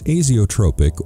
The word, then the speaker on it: azeotropic: Make sure you choose a solvent cleaner that’s azeotropic (pronounced “aye-zee-ō-trōpic”) or azeotropic-like, which won’t change as it is boiled and reconstituted over-and-over.